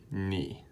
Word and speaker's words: 你: 7 pretty simple and the way you pronounce this one is me and that means you alright so one last time